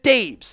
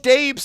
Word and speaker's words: Dabes: I know it says dabs. but that's how he spells it, and he pronounces it Dabes. Show our guy, Coach Dabes, some love in the comment section.